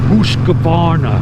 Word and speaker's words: Husqvarna: I'm working on, let me pronounce it correct, Husqvarna.